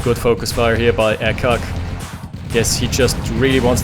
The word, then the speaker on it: Ekac: I'm going to refer to him as Ekac or Ekac anyway, even though it's reverse cake. Guess that's the way his name should be pronounced.